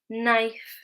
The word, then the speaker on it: knife: So if the letter K is followed by the letter N, then it is silent.